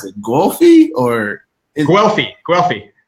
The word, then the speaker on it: Guelfi: than I can say it how do you pronounce it goofy or wealthy Guelph e Guelph e it's in Florence right yes Vincent Guelph E